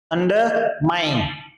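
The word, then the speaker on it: undermine: अंडर माइन, अंडर माइन, आई नहीं है, ऐन बोलना है, अंडर माइन, अंडर माइन।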